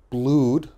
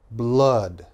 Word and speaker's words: blood: a little bit strange my students often say blued that is wrong okay this is blood blood flood blood flood